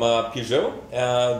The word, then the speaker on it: Peugeot: Now we welcome Dong Magsao from Peugeot, the latest brand to hit the country. Is that how you pronounce it?